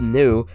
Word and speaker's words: nu: This name has a Greek character that's pronounced nu, which almost looks exactly like an English V, but if you look very closely, it has more of a curve to it.